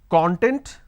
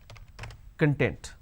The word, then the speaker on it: content: I can either pronounce this as content or I can pronounce this as content. So content, content. We don't really understand what to be used where. That is where we make a mistake. Now when we pronounce this as content, the meaning it means an ingredient or index.